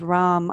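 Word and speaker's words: ram: further up into the solar plexus the seed syllable sound is rom r-a-m take a deep inhale run taking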